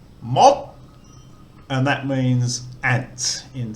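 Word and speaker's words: มด: So if we go back to the tone rules and we look for a low class, dead syllable, short vowel, we get a higher tone. Mod, and that means ant in Thai.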